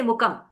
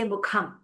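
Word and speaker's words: मुखम्: You will no longer say mukam, you will say mukham.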